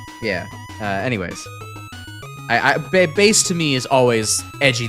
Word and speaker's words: Bass: They pronounce it like the fish. Yeah. Bass.